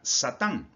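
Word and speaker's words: שטן: Su eh escrito hebreo se escribe de esta manera y su pronunciación sería Satán. Satán y la fonética es Satán.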